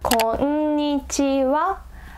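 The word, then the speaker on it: こんにちは: And when it's a particle, we pronounce this as wa, and it means as for.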